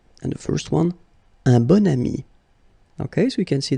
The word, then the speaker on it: bon ami: And the first one, un bon ami. Okay, so you can see that here you've got this adjective, bon, okay, and then you pronounce it bon ami when you make this link.